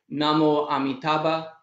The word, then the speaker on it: namo amitabha: of amitabha's name so in sanskrit you'd say namo amitabha in korean you'd say